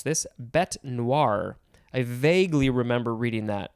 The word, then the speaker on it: bête noire: Next we have black beast, 2 words, noun from 1862, and the synonym is, I'm going to try to pronounce this, bête noire.